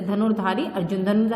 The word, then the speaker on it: अर्जुन: है बेटा यह देखिए यह जो र का रूप है ये जिस शब्द पर लगता है उस शब्द से पहले इसका उच्चारण किया जाता है जैसे धनु फिर ध के ऊपर है तो र पहले बल जाएगा मतलब धनुर धारी ज के ऊपर है तो ज से पहले अर्जुन ठीक है इस तरह